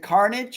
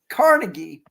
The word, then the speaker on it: Carnegie: Is it Carnage or Carnegie? Carnegie. Like Carnegie Hall in Chicago.